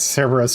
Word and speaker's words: Cerberus: Cerebus. Cerberus. I don't know why I always pronounce it like that. I always try to add an extra E in there.